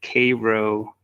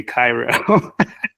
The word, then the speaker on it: Cairo: you spell it like Cairo Egypt but they pronounce it as Cavo Georgia and they're really good at correcting you if you if you say Cairo it's all over the town um but yes